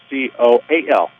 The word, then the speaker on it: Koehl: Spelled Koehl, pronounced Coal.